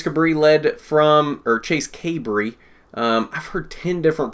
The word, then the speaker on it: Cabre: before I talk to Nora kay Bree I believe is the correct pronunciation if I remember correctly but it's hard when there's like ten different pronunciations that people throw out out there because nobody knows how to pronounce it kay Bree chase kay